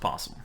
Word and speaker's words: opossum: itum or aasum it's spelled aasum but it's pronounced posum English language garbage so she goes hey I just found an opossum and I I go oh